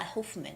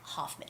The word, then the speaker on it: Hoffman: ellen hoffman and it's not huffman it's hoffman hoffman ellen hoffman all right and the